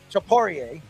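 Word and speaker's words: Topuria: And Ilia Tapora, Chaporier, or that's how he pronounces his name.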